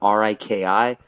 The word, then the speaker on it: Riki: I really could not tell you when it went to R-I-K-I, but what a stupid way to phonetically spell it. It's like, that's actually Riki, like Tiki.